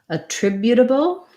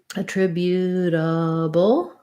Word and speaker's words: attributable: then when we add when we change to attributable attributable uh attributable we still have the same syllable stress pattern we just add this the um schwa and the b and the dark l so a tribu and